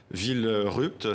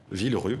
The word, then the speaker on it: Villerupt: Villerupt, si je le prononce bien. Villerue, pardon, donc.